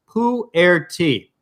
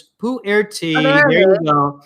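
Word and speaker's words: pu-erh: i had mentioned is poo air tea which sounds gross but it's not maybe maybe if holly can like spit oh she did did she spell it out pull it out yeah i see it all night so it's poo air tea it's it's basically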